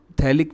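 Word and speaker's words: phthalic: थैलिक में P silent रहता है, थैलिक PH दोनों ही साइलेंट है, टरथैलिक एसिड।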